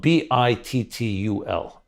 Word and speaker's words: bittul: I'll spell it B-I-T-T-U-L. It's called bittul.